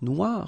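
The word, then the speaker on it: noire: So it's quite funny because you will have to add this E at the end of noir for the feminine form, but then you don't pronounce it. Okay, so phonetically it is exactly the same.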